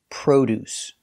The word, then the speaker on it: produce: look at the pronunciation the word is produce we use the long o like know and go Pro produce the first syllable is stressed so produce produce produce